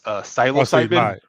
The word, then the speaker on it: psilocybin: How do you pronounce this? Psilocybin.